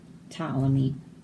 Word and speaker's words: Ptolemy: Ptolemy, the psychic pterodactyl, struggles with psoriasis. So all of these P's are silent. We don't say them. Ptolemy.